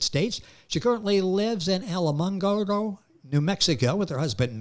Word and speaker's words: Alamogordo: Alamo, the Alamo. And then you go Gordo, Alamo, Gordo. Just if you do it phonetically, that's the way.